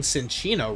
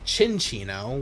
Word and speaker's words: Cinccino: And I've been saying Cinccino wrong this entire time. It's Chinchino, which I guess makes sense because it's a chinchilla, but you would think